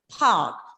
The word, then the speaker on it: park: Again, in the word park, the letter R is silent.